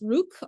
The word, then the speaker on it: Rukh: As early as 1989, Ned was funding a Ukrainian independence movement known as, I believe it's pronounced Rukh, R-U-K-H.